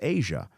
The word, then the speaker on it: Aja: The title track is Asia. Right? Um it's spelled A J A but there's something to that as well that I picked up on.